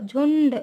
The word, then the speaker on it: झुंड: फिर है झुंड, आधा ना आता है, या फिर ऐसा लिखते हैं हम, झू और ये आधड़ा और ड, झुंड, इसका उच्चारण भी ना के रूप में होता है, या फिर ये हम